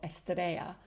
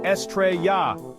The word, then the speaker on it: estrella: And here, an AI voice got the stress wrong and stressed the final syllable of estrella instead of the second. Star is Estrella.